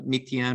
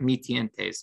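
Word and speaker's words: Mi-Teintes: of the canson uh methion or meatpaw and paper um it's spelled m i uh and then space t i e n t e s um so it's like mi tientes but the the pronunciation is obvious obviously different um but those are great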